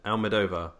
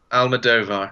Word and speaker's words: Almodóvar: Is that how you're pronouncing it? Almodóvar. Almodóvar.